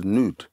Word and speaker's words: Nod: In the language, it's actually pronounced as Nud.